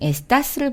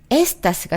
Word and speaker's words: está: 자, 3인칭도 한번 볼게요. 에스타, 에스타. 아센토 느껴지시죠? 여기에서도 아로 끝났으니까 어때요? 맨 앞에 있는 모음, 그것이 뒤에서 두 번째의 모음이기 때문에 그걸 올려야 되는데 이것도 예외로 맨 뒤에 아를 올려주세요 라는 표현으로 아센토를 찍은 거예요.